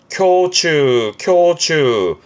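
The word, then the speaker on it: 胸中: 흉중, 발음은 쿄추. 요게 N1 때 한자기 나왔던 단어인데요. 모르면 어렵죠. 흉 그러니까 큐 할 것 같고 중자는 주 할 것 같고 그러거든요. 하지만 흉중, 가슴 속을 의미해서 발음은 쿄추.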